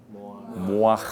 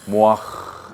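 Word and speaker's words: מוח: 하 로쉬 머릿속에 뇌 모 소리를 내야 돼요 입으로 크게 모아 그래서 내 소리가 내에 들리게 해야 돼 모아 해해 발음은 그냥 히 발음으로 나오는 거지만 저이 해트 발르면 목구멍 속에서 나오는 거예요 그래서 모아 이렇게 모아 오케이 그리고 머리카락은 세아 세르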